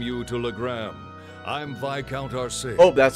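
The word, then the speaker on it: Arseid: I'm Viscount Arsade. Oh, that's how you pronounce it.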